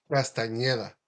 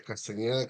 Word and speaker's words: Castañeda: It's not embarrassing to pronounce those R's, the R's, the E's, the Ñ's, you know, because to me, I was taught, tú eres Castañeda, siempre Castañeda, Castañeda, pero igual, cuando ya